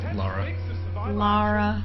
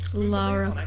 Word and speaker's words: Lara: Laura. Lara. Lara. There's no you. There's not always you and Laura. But you're pronouncing it wrong. Lara Croft.